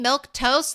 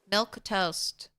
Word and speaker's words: Milquetoast: How do you say your name? Milk Toast. That's it exactly, Scrubbish. Milk Toast. They added in a whole bunch of extra letters, but don't worry about it. It's simple.